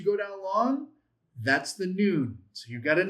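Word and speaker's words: נון: A final nun, n u n.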